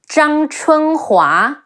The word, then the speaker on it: Zhang Chunhua: Yi, and his wife Zhang Chunhua, Zhang Zhang, Chi Wu En Chun, He Wu A Hua, Zhang Chunhua, Sima Shi, Sima Shi,